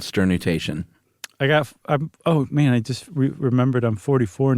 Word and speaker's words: sternutation: So we're talking sneezing, obviously, because we just discoursed on sternutation. I'm adding an extra syllable there, aren't I? Sternutation. That's the Josh Clark way.